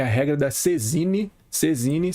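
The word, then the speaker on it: saisine: Sezine, se escreve Saizine.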